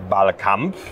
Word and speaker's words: BalCamp: Ist das richtig ausgesprochen? Ballcamp.